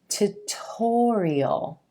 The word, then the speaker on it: tutorial: the word tutor tutor if we add the ial suffix it becomes tutorial tutorial and that stress shifts to the OS and gold sound right before the suffix tutorial this word manager manager